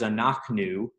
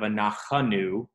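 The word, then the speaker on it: אנחנו: The word is anachnu, and instead of anachanu, it just comes out as anachnu.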